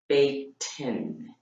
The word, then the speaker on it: Bateman: this woman, Kathy, and I said her name wrong. It's Bateman.